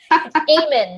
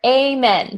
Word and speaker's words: Ehmann: you for a long a min like a prayer amen Haga Lane Damon on